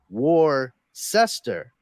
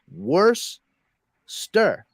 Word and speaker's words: Worcester: It's people separate the syllables incorrectly when they look at the word. They're looking at it as Worcester. Yeah. But you actually have to separate it after the CE. So it's Worcester.